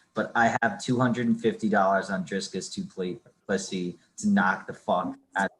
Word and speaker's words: Dricus Du Plessis: Dricus Du Plessis. I just found out that's how you say his name. Du Plessis.